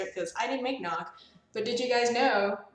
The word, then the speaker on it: GNOG: because I didn't make nog but did you guys know that nog is short for Noggin the g is silent um their game used